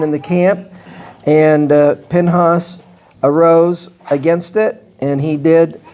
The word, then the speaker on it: Pinhas: 25 an individual um whose name is Pinhas or we may pronounce it as Phineas and we're told in Numbers chapter 25:7 that he is a son of Eleazar.